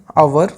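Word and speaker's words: hour: अगला question number 25, he will return after blank आवर। तो इसमें आप लोग सोच लीजिए इसका राइट ऑप्शन क्या हो जाएगा। तो यहाँ पे जो आवर की साउंड है, जो प्रोनाउंसिएशन है, ये है वोवेल की, तो इस वजह से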